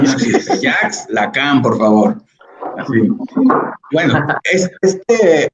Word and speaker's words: Jacques Lacan: No le digan Jacques Lacan, esa pronunciación no existe. Jacques Lacan, por favor.